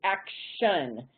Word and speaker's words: action: But if we add that suffix io n on we now pronounce that as action and our t shifts from t to shh.